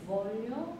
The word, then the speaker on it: voglio: fedele sempre fedele sempre fedele sempre fedele ti voglio amar ti voglio amar V가 조금 더 정확하게 해주시고 Voglio amar Voglio amar 네.